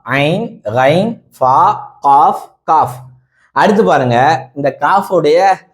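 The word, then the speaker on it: ق: பாருங்க cough cough யக் cough Urdu cough அப்படின்னு சொன்னா யக் கா ஆ இந்த காஃப் சொல்லும்போது இந்த ரெண்டு தொண்டை குழி இருக்குதுல்ல அதுல டப்புன்னு ஒரு வெடி வெடிக்கணும் அது ஒரு அதிர்தல் தெரியணும் காஃப் காஃப் காஃப் காஃப்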